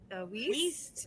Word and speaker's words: Wiest: And thanks you guys so much for coming to Brew Talks with Building Out a Recipe with Kat Wiest. Rhymes with yeast.